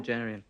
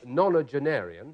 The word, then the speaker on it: nonagenarian: Nonagerian. Nonagerian. Yes, it is. Nonagerian. Well done. Or to be absolutely precise, nonagenarian, but that's what you meant.